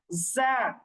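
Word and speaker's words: ز: তাহলে সদ সিন সা জা। জায়ের উচ্চারণ ঠিকঠাক করতে হবে, ঝা এমন না, জা সদ সিন সা।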